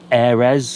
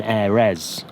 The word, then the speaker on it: aire: I think it's called an Airez. I don't know how that's pronounced. Air. Sounds very French. Exactly, it is French.